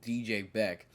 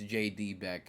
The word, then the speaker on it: JD Beck: Beck, which I, for the longest time, has been saying DJ Beck, not realizing it's J.D. Beck, because I'm just stupid.